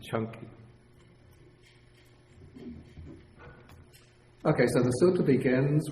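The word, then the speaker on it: Caṅkī: You think it might be Canki. But the C in Pali is always pronounced like CH, like Ch in church.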